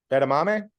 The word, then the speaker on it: edamame: ER m is that is that how you pronounce it how's it spell e d a m a m e edamame edamame see here you go you're you're you're